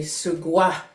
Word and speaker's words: sugwa: Our elders say sugwa because there's no R in the Gitxsan word, so they tried to pronounce it and they call it sugwa.